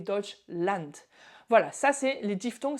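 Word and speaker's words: Deutschland: Mais Land A D, ça se prononce and A and N et pas and pas Dutchland mais Dodge Land.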